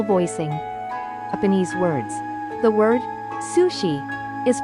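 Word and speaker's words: 寿司: The word sushi is pronounced sushi when it stands alone.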